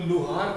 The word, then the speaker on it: लुहार: तो लुहार कहा जाता है हिंदी में, लुहार। ल में छोटा ऊ की मात्रा, ह में आ की मात्रा और र, लुहार।